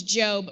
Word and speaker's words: Gob: character on the show his name is job but it's actually spelled g o b like Gob but yeah anyway if